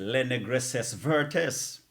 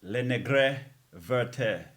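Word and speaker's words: Les Négresses Vertes: did, and I said, Le Negresses Vertes. Little did I know, all these years I've been saying that the proper pronunciation I understand is Le Negre Verte.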